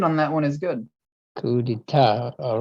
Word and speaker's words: coup d'état: But yeah, but your pronunciation on that one is good. Coup d'etat.